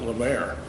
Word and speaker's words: Lemert: But he he would pronounce it La Mer and say it was French and Libert was the